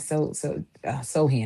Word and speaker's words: Sochan: And not because I don't like Sohan.